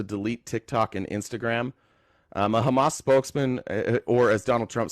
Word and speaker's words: Hamas: You wouldn't say hummus. You just wouldn't say hummus. You would know how to say it. A Hamas spokesman has warned that